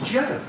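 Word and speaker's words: zhou: to do is essentially learn that zh is pronounced J and the OU is proun O and we've got it as Joe and the Mystery I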